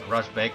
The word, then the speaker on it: РАЗБЕГ: mobility alongside Russian fellow I'm told this is pronounced Rajbeg so that's what we'll go with plays a Grey